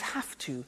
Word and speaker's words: have to: Notice I don't say V, I say F. Have. It becomes have to.